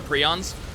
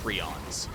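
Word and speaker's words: prions: in get some health over here what are prons so p r i o NS is the way that one is spelled it is a um they're they're not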